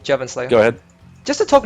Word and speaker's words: JevynSlayer: So yeah, just to talk more about I am probably butchering his name and I apologize in advance. No, that's how you pronounce it, Jevon Slayer.